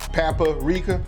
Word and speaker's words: paprika: I like the way he says paprika.